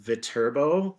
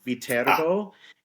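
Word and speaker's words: Viterbo: um it's the name of the university is pronounced vbo vbo it originates from a small city in Italy um there is a city named vbo uh and the the institution is located in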